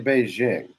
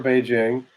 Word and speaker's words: Beijing: And we always say Beijing.